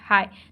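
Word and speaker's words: high: एच आई जी एच हाई तो इसमें जी जो है वह साइलेंट है ठीक है ओके अब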